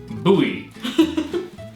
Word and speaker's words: Bowie: hopefully you can confirm Bowie is pronounced Bowie I guess rumor confirmed